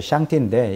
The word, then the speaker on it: 上帝: 그러니까 상제, 우리 한국말로 말하면 상제고, 발음은 이제 샹띠인데, 이게 바로 인격적 하나님을